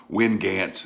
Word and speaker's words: Winnegance: my reading glasses on hannah told me to pronounce it as wingance this w-i-n-n-e-g-a-n-c-e or g-r-a-n-c i'll leave it right